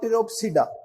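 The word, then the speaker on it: Pteropsida: सीलोप्सिडा, लाइकोप्सिडा, सफिनोप्सिडा और टिरोप्सिडा। ये 4 sub division है किसकी? ट्रेकियोफाइटा की। दोबारा पढ़ देता हूं, सीलोप्सिडा, लाइकोप्सिडा, सफिनोप्सिडा और टिरोप्सिडा। अब इस टिरोप्सिडा में पी साइलेंट है और इसी तरह सीलोप्सिडा में पी साइलेंट है।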